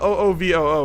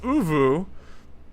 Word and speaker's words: Uvu: It's not O V O, it's Uvu and Kizler.